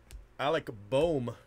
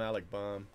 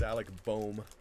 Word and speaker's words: Alec Bohm: Alec Bohm is actually, I think, how you pronounce it, but I call him Alec Baum. But it's Alec Bohm.